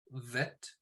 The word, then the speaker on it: vet: is a silent letter bet is pronounced as in box vet is pronounced as in volley okay and then we're